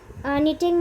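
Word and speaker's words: knitting: याद रखिएगा, निटिंग में के साइलेंट है, सिर्फ आपको निटिंग ही बोलना है, के को नहीं लगाना है, लेकिन स्पेलिंग लिखते समय के आप उसमें ऐड कर लेंगे।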